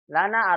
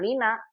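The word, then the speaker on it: لنا: Ini bacanya lana. Jangan lina. Ada sebagian rumah jawab dengan lina. Kalau lina nama orang. Lana Lana, ini ya, lana. Memang begitu. Li kalau bersambung dengan domir jadi la dibacanya. Lana, laka, lahu, laha.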